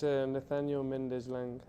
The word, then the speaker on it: Nathaniel Mendez Laing: I don't know if you can tell us the correct pronunciation of your name and last name? It's NATHANIEL MENDEZ LAING.